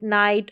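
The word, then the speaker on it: night: दोनों ही साइलेंट होंगे। जैसे कि लाइट, नाइट और हाई।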